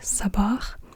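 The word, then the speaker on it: صباح: a really deep s so as an example in the word um for morning in Arabic Sabah um it's in it's at the beginning Sabah so yeah if it was written with scene it probably would be more like Sab sa but it's really sa like not sa but s like a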